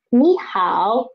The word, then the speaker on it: 你好: They're all third tone words, third tone syllables. Then in this situation, we should change this one, this 你 into 你, 你, change it to the second tone.